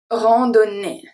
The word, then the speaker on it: randonnée: AN make the sound en, the O is a short O, is a close O, rando, do, ne. So here we could think that ON is going to be pronounced as on. It's not the case because we have two N. So the two N are pronounced just like regularly. We pronounce every single letter.